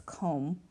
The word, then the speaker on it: comb: We don't say comb with a B, it's comb.